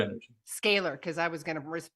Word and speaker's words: scalar: thank you this conversation about it the energy scholar I'm like blurting it out again say it out loud scalar energy scalar because I was going to mispronounce it again